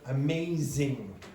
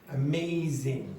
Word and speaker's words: amazing: Now another problem for French speakers very often, they will not pronounce amazing. Amazing. Try that. Amazing. Now, do you hear it? Amazing. Amazing. Now, was that z very clear?